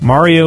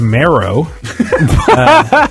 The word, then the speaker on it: Mario: Mario was Marrow.